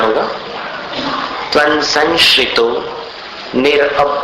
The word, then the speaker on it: संशितो: जैसा उच्चारण होगा तन संशितो निर सं का अनुस्वार जो है वो संशय जैसा उच्चारित करना संशितो फिर निरवकाश निरवकाश तयानी